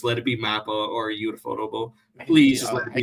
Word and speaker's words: Ufotable: Infutable, I think that's how you pronounce it. Infutable, Infotable, Uh, Ufotable, yeah.